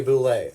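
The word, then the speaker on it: bulette: This is a boulet. Apparently that's how it's pronounced.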